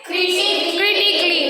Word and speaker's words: critically: Next word is critically, not critically. Okay, we should not. If you are pronouncing like that, it's wrong, right?